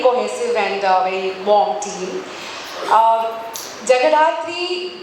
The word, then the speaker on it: Jagadhatri: Jagadhatri, Bengali में अगर बोलूँ जगधात्री, being a Bengali, I would want to pronounce it that way, is जैसे show का नाम भी है, माँ दुर्गा का ही एक रूप है.